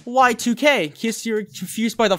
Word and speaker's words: YIIK: don't know about that mr crow that said y2k kiss you're confused by the font choice in